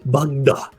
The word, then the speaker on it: Bugda: is Bugda.